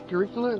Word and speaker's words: curricula: church I can't even curricula curricula is how you pronounce that development about to